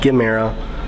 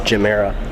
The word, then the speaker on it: Gemera: mirror to look at quick correction on my part this is the jumeirah the jumeirah the ge is to give and the mirror is to more i just said gimmera but it's gymera also i forgot to